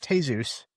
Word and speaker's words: Jesus: Well, too bad he wasn't a better mentor because James Jesus Angleton would have been a It was better. pronounced Jesus. I know, but Yeah. I like the the Anglophile mispronunciation.